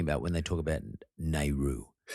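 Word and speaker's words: NAIRU: something there's this concept it says it's pronounced nehru n-a-i-r-u um and it relates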